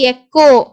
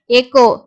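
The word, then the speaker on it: echo: sound இருக்காது okay stomach அதே மாதிரி எக்கோ சிட சவுண்டு இக்ன்ற சவுண்ட் வருது எக்கோ ஹெச் வந்து சைலென்ட் அதே மாதிரி டெக்னாலஜி டெக்னாலஜி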